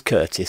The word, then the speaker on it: Curtis: And by the way, I keep saying Chris, and it's not Chris, it is Curtis.